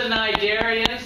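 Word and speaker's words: Cnidaria: And then the nidarians. That's how you pronounce that. Nidaria.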